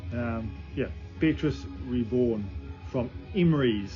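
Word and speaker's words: Emreis: Um, yeah, Petus Reborn from Emmery. E M R E I S. That's how you pronounce it.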